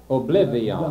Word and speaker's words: oblivion: v y o n well that should be pronounced like million oblivion no no dion well my point is that an extra syllable the y is one syllable and the o n is another oblivion all right now